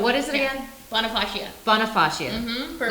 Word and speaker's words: Bonifacia: So it's a little bit tricky to pronounce. It's actually Bonifacia Wines. Bonifacia.